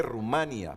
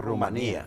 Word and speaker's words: Rumanía: a las elecciones presidenciales aquí dice Rumania, pero la verdad que a mí el profesor Olegario y la profesora Priscila desde primaria me enseñaron a pronunciar Rumanía.